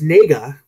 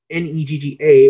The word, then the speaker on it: Negga: Also, Ruth, I believe it is pronounced Nega, Negga, or Nasia.